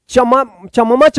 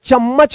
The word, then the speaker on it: चम्मच: च आधा म, फिर यहां पे म, च क्या पढ़ेंगे, चम्मच, चम्मच मत पढ़िएगा, चम्मच होगा, क्या होगा, चम्मच।